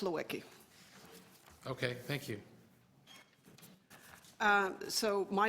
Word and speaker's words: Lewicki: your name pronounced correctly I tell people what my parents came to Canada they were having a sale on consonants so they stocked up but it's it's pronounced Lewicki okay thank you so